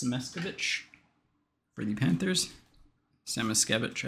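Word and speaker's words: Samoskevich: Semeskevich, I think, is technically the correct pronunciation.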